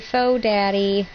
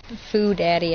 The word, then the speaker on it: Foo Daddy: Hey, Faux Daddy. Foo Daddy, I think, is actually how you say it, because there's 2 O's, not just one.